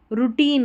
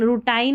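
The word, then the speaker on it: routine: देखिए इसको आर ओ यू रू टी आई एन ई को टिन करके पढ़ा गया है। ठीक है? रूटीन रूटाइन नहीं पढ़ना है इसको।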